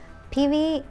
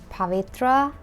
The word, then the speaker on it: Pivi: here it goes pey is my real name but it's just a shortened version of pyu growing up I experienced a lot of people struggling to pronounce my name some teachers were calling me pavitra and I was like